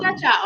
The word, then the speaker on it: chow chow: Yeah, it's spelled chow chow. Chow CHOW. chow. If they know what it is, they ain't got to do it. We say cha Huh.